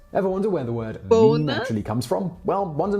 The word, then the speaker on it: meme: I abbreviate MIM to meme if it is any constellation it could be thought of as being related to memory or to the French word meem it should be pronounced to rhyme with cream and now for another